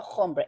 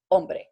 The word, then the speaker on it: hombre: this case no no the H always is silent in Spanish so okay remember that it's no hombre its hombre its mean men or like